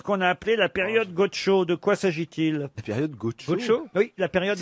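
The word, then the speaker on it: Godchaux: Ah non, mais là, ça s'écrit pas Gaucho. C'est Gaucho comme Gaucho. G-O-D-C-H-A-U-X, Gaucho.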